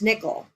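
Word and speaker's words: Nickyl: She named her child N I C K Y L, pronounced Nickel.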